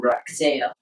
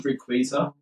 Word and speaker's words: Rayquaza: Definitely more than other legendaries such as Groudon, Kyogre, or Rakzeo. Did I just mispronounce Rayquaza?